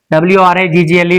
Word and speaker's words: wriggle: We know that this letter goes missing. Of course, it is silent, not pronounced. Wriggle. But it's in this, we just say wriggle. It's like that. But in this, stress is on the first syllable. Wriggle. Wriggle. Like this, you have to pronounce.